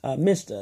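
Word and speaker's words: MSHDA: It's MISTA, it's spelled all uppercase, M-S-H-D-A.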